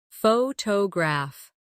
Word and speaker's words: photograph: Photograph. Now, photographer. Notice how the stress changes when the word becomes longer.